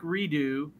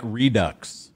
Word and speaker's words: Redux: for the Haunted Throwback Redo. Is that how you pronounce it, or Redux? Throwback Redux. It's a Redux. Yeah, I know you're from Louisiana, so you saw Redo. It's a Haunted Tour Throwback Redux, for the non-Louisianians out there.